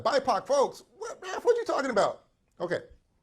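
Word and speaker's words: BIPOC folx: what i just said you might be like bipac folks what you talking about okay bipac folks i use the term bipac folks yes i said bipac folks and you might be asking what in the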